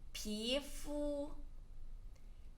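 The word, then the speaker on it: 皮肤: And then skin, 皮肤皮肤 we have learned this before 皮肤 P second tone, fu flat tone.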